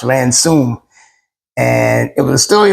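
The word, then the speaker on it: Ransome: so all this time I've been calling him ransi but uh it's pronounced ransum and it was a story about her life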